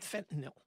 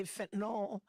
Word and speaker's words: fentanyl: so about something called fentanyl sometimes radio and TV announcers will say fentanyl but the accurate pronunciation is fentanyl what is it fentanyl